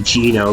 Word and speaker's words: Gino: game says Zeno but his Japanese name is supposed to be Gino because he's supposed to be Italian Zeno is supposed to